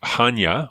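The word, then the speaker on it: Chania: to this uh near the the city of Hanya which is spelled c-h-a-n-i-a and there was a an island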